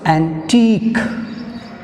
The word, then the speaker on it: antique: In critique we have stress on last syllable teak. So antique, here also antique, ఈ teak వరకు తీసుకోండి last syllable.